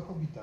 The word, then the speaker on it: Hobbit: Po angielsku Hobbit się wymówił z jednym B, chociaż pisze się ze dwoma. No i ja uznał, że